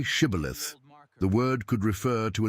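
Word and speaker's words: shibboleth: The Ephromites pronounced it differently, saying cibilith, and their speech exposed them.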